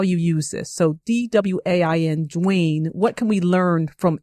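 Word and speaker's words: Dwain: the program director, Dwayne, who has an interesting spelling, D-W-A-I-N, but it's pronounced Dwayne.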